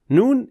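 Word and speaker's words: نون: mistakes related to it noon is another letter pronounced from the edge of the tongue the edge of the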